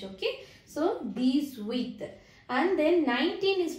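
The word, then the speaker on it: dix-huit: Which letter will you drop in this? H letter you should not pronounce any time in French, okay? So, these with.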